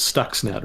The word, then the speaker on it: Stuxnet: Am I pronouncing it right? It is Stuxnet, right? Yeah, Stuxnet.